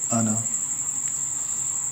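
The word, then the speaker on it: أنا: Pronunciation, how will you pronounce it? Anna.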